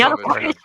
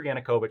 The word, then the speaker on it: Yanukovych: Lactoid's argument is that Yanovich, I'm going to mispronounce his name. Yanukovych.